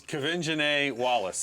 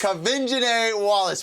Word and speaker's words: Quvenzhané Wallis: It's Quvenzhané Wallis. Quvenzhané Wallis.